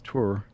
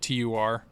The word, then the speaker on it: tour: These city folk trying to tell me how to pronounce tour. Hey, Ray, can you do me a favor and mispronounce tour in one of these and just make it TUR?